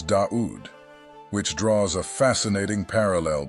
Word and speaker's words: Dā'ūd: Star which is duat the Arab AIC pronunciation of David is daud which draws a fascinating